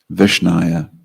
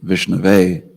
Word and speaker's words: Vishnave: If a devotee says, instead of what should be said, if he says Vishnaya unto Vishnu, instead of Vishnave, which is what it is, then Lord Janardhan will accept it.